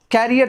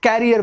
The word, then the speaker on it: career: कैरियर तो cycle में जो पीछे में लगा होता है सामान ढोने वाला, उसको कैरियर बोलते हैं. This is नॉट कैरियर, this is करियर, मेरा करियर.